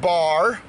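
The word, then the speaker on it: בר: It's the B and the R sounds. Dis die B en die R klanke. It's pronounced bar.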